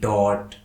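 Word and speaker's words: taught: कि BOUGST बॉट, FOUGST फॉट, SOUGST shot, TAUGST टॉट। तो इस एग्जाम्पल के माध्यम से हम ये समझ चुके हैं कि यदि किसी स्पेलिंग में यू के बाद GH आता है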